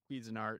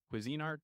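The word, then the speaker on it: Cuisinart: and then I would talk and then I'm quez andart is that how you say it Cuisine Art quein art no no that's a good one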